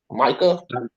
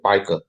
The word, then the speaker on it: Micah: I want to call you Micah. Appreciate it. So all right, Micah. Micah, don't spam, because I'll have to boot you. I think it's pronounced Mika. Mika.